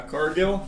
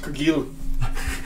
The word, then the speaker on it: Cargill: Cargill? It's pronounced Cargill. Oh, it's French.